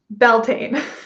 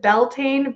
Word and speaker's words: Beltane: pronounce anything wrong and that tends to be the way that we say it here in the states so even though i know it's pronounced closer to biatena is that right um